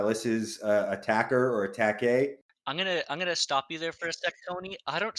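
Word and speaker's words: Attaquer: just pronounced it as attack a I have a feeling as Australians they pronounce it attacker they do beautiful stuff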